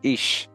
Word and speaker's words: Ix: was white, and who was called Ix, pronounced Ish, and Sak, meaning white.